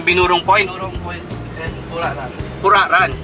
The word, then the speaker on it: Puraran: Binurong Point and Puraran. Puraran. Ganun bang pronunciation? Puraran. Puraran o Puraran.